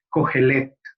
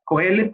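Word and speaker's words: Qohelet: Entonces, el nombre que eh, originalmente el libro tiene escrito en hebreo es Kohelet, ¿verdad? Kohelet, como lo podemos pronunciar nosotros y nosotras hoy.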